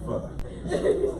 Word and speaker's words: pho: soup, and it's called pho. Some people say pho, but it's really pho.